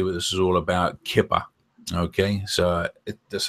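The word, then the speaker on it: Keepa: Kipper. Okay, so that's how they pronounce it.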